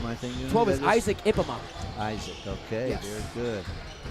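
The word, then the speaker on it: Ippema: 12 is Isaac Ipema. Isaac, okay, yes. Very good. I think it's Ipema. I thought it was Ipema, but it's I-P-P-E-M-A. That's how it's spelled. So Ipema.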